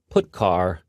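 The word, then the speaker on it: putchar: these three are the most popular they are pronounced print F put car and puts each function is designed to send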